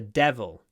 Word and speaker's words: devil: his soul to the devil devil it might seem strange but de you need to smile when you say it de de de devil